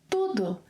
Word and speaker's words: tudo: For example, eu comi tudo.